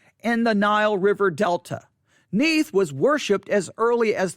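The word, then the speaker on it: Neith: belonging to the goddess neath that's n-e-i-t-h it's pronounced neath n-e-e-t-h is how it's pronounced neath she is bull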